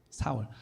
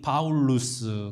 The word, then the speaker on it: 사울: 바울이라고 하는 사울 예 사울 사울이라는 이름은 사실은 이게 이제 이름이 바뀌었다고 생각을 하지만 원래 같은 이름이에요 히브리식 발음이 사울이이 헬라식 발음이 파울루스 그래서 바울이라고 이야기합니다 아 같은 말인데 우리가